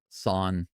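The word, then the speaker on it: san: Pronounced like s a h son. Not son, but son.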